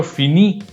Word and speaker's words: finis: So for pronunciation, always remember, we just pronounce it as je finis, tu finis, il, elle finit. How did I determine it? So actually, I would like to give you a hint. You again go to the infinitive form. You eliminate R and just pronounce the remaining part, which is F-I-N-I. And if you pronounce it, it remains with fini.